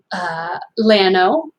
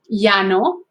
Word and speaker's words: Llano: have spanish names but have adopted a an english pronunciation such as amarillo amarillo llano yano san antonio san antonio